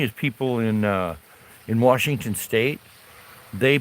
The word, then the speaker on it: Washington: Well, what's funny is people in uh in Washington state they pronounce some people pronounce it with an R Washington.